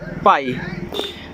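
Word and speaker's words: pie: जब आई के बाद ई दिया हो तो हम उसे भी आई पढ़ेंगे।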